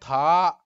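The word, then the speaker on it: 他: So here you notice that he, she, it is pronounced in the same way, but Chinese character is different.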